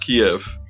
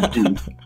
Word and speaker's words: Kyiv: Right, and don't forget, it's Kyiv now, not Kiev. So change the history books and put away that chicken Kiev that you were going to eat, because now it's chicken Kyiv.